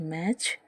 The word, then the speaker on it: match: तीसरा एग्ज़ाम्पल है MATCH, मैच, जिसमें भी जो टी है वो साइलेंट रहता है, क्योंकि इन सब के